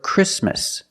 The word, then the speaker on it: Christmas: The T is silent when it's between consonants.